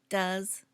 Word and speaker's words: does: I do you do he does notice the pronunciation does not do's she does it does we do